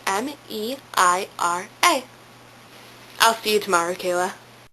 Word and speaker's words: Meira: It's meira, okay? It's spelled M-E-I-R-A.